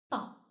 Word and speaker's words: ط: This letter is pronounced Ta, which is articulated with emphasis.